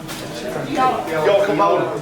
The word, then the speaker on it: Diolch yn fawr: Diolch yn fawr. Diolch yn fawr. Ar y drein fawr then. One more time? Diolch yn fawr. Diolch yn fawr? Yeah. Diolch yn fawr to everybody here. Diolch yn fawr, Joel.